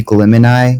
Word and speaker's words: Glimony: The person who originally made it, I'm pretty sure they intended it to be Glimony, like Gemini and Glimmer.